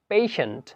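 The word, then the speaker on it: patient: TIENT, এইটার উচ্চারণটা হবে CIENT এর মতো, তার উচ্চারণ হবে সেন্ট। যেমন আমরা উদাহরণস্বরূপ দেখতে পারি পেশেন্ট, সাফিসিয়েন্ট।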